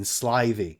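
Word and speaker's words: slithy: that has often been asked me how to pronounce slyy toes the i in slyy is long as in R and Toes is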